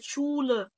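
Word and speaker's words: Schule: شايس وادي يبقى الا تعملك صوت الشين عندك كلمه شول مدرسه قبل ما يفصل شول اسها اهي شول طب ايه الضمه دي ليه عشان حرف الاو لو انا بنطق كده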